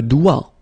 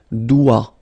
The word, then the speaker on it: doigt: Okay, so don't be frightened by this G because basically you don't pronounce it and then the final T you don't pronounce it. So the only thing you get to pronounce is this combination of three letters, here, D, O, I, okay? O, I, it's wa, and then D, doigt.